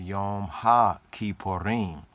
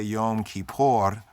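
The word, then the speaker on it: Yom HaKippurim: in the season the yom ha ki porin many say yom kippur and there we seek to correct right that's not yom kippur only in modern judaism and nowadays people just say it like in a short way yom kippur but in her torah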